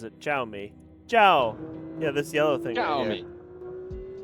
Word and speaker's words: Xiaomi: This guy pronounces it Xiaomi.